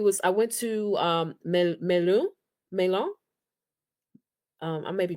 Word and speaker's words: Melun: Uh, banlieue it was I went to um, Melun Melun. Um, I may be pronouncing that wrong. Uh, m e l u n Melun me me it's it's like it's it's the Oh, I see.